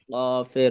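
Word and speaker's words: ق: সকলে একসঙ্গে একবার বলবেন কফ জিবার্বার ধাক্কাকে মোটা উচ্চারণ হবে মোটা উচ্চারণ এবং চালি টানতে হবে শেষে ফা উপরে লাগা নিচে পেটে লাগবে বাতাস বের হবে কফ কয়টি নক্ত?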